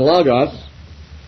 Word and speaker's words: logos: Nobody knows exactly how the omicron in the Greek was pronounced in ancient times, but I tend to give it a short O pronunciation. So eschatos and logos.